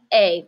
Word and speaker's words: est: But il est, he is or it is. Il est, pronounced just like the es.